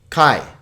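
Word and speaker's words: καί: but now here's an example of a word that is alpha iota which is a diphthong so this is just one syllable kai kai how about this one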